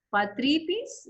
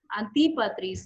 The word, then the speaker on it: Antipatris: La pronunciación, Antipatris.